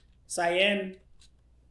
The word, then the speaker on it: Cyan: How do you pronounce this name? Cyan. Cyan.